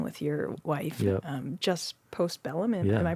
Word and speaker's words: Postbellum: Just Postbellum. Am I pronouncing that Yeah.